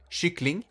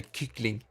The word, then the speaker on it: kyckling: Chickens are called kyckling. So you pronounce it with sh. But sometimes I like to, you know, play stupid and say kyckling.